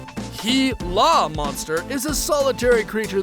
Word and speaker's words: Gila: intrigued by the Gila monster the Gila monster pronounced ki la monster is a solitary creature that spends most